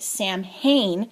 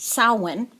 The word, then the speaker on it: Samhain: murder the word and call it calling it Sam Hayne because it's spelled s-a-m-h-a-i-n but it's actually pronounced salwan uh in the Gaelic version of it um